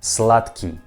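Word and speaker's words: сладкий: russian word slutky slutky you see that this word has a letter the slaad ki but i don't pronounce like the key i pronounce like slutky what i mean this word we pronounce like tu i mean slot key slot key and this word can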